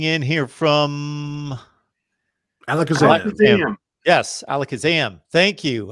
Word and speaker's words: Alakazam: Yes, Alakazam. Thank you. I think I mispronounced that the other week. I was like looking at it like it was Alaska something. Alaska Sam. Alaska Sam.